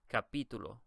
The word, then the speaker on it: capítulo: You can see that they don't put the stress on the second to last syllable, and so they give you a little accent to tell you, hey, this is where the stress is, right here.